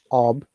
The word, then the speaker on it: of: And also the pronunciation is OF is ob, yeah? Akmal. OF, ob.